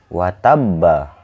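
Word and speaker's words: وتب: Nah, di sini saya langsung saja ini watabba. Watabba. Nah, karena hukum bacanya itu qalqalah akbar, maka dibacanya itu kayak gini teman-teman. Watab. Watab. Watab. Ditahan sedikit saja ya.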